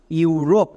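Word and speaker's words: Europe: তাহলে আমরা আরও একটি এক্সাম্পল দেখে নেব, যেমন ইউরোপ। এখানেও দেখো শব্দের একদম শুরুতে ই ইউ আছে, ইউ সাউন্ড দেবে, যেমন UROP, রোপ। এবার শেষে ই আছে, তাহলে এইটা সাইলেন্ট হয়ে যাবে, তাহলে একসঙ্গে উচ্চারণ করো ইউরোপ।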